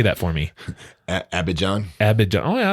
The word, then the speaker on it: Abidjan: not to leave abdijan say that for me abby john abbott john oh yeah i was saying it